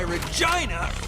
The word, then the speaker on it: Regina: That's why Regina rhymes with fun.